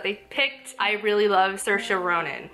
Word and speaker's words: Saoirse: I really love Saoirse Ronan. Saoirse, that's how you say her name.